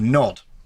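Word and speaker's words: Gnod: a few years ago called nod spelled with a silent g a good not and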